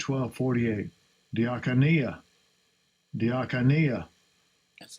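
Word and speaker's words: διακονία: Diakonia. That's how it's pronounced.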